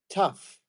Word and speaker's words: tough: H I got it but there is tough like rough tough rough mhm and don't forget bow